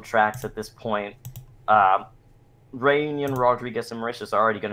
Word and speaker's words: Rodrigues: I need to correct your pronunciation on the island of Rodrigues. Oh, yeah, it's Rodriguez.